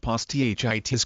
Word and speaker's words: posthitis: until the teen years the term poss Titus pronounced poss th itis comes from the Greek past meaning foreskin plus